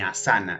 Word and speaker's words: asana: a saná hasta ahí el acento va en la primera sílaba en a astaná no está sana ni a sana es sana hasta asana viene de la raíz